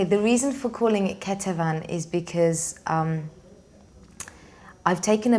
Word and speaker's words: Ketevan: pronounce the album title the album title is pronounced Ketuvim cut the phone um why this name okay the reason for calling it keto van is because I've taken a bit of a